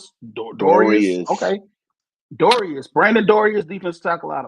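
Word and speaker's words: Dorlus: The number 4 pick, we picked Brandon Dolores from Oregon. I hope I pronounced his name right. Dorius. Okay. Dorius.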